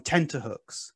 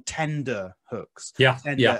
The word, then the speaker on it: tenterhooks: People very often mispronounce this phrase as to be on tender hooks. As in soft.